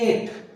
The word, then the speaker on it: eight: सुना हुआ है सबने, जैसे एट, एट की स्पेलिंग क्या होती है, अब यहाँ GH कहाँ गया, हम बस EIT ही बोल रहे हैं एट, लेकिन स्पेलिंग क्या है, EIGHT, एट।